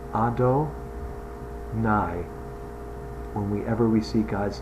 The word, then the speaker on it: Adonai: This is the name Adonai that we use to pronounce the name Yud and He and Vav and He.